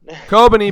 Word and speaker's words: Kobeni: Yeah, Kobeni.